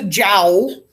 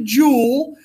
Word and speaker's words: joule: us it's called a Joule Jo ult we do not pronounce it as a jowl all right we call it a jewel like those of you who wear jewelry all right and we